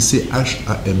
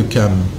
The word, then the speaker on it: Cham: Cam s'écrit C-H-A-M, c'est pour ça que les gens disent Cham.